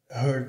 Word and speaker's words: hurt: O T some e a vogal aqui fica com o som de Mina, hurt me. O T aqui não é pronunciado.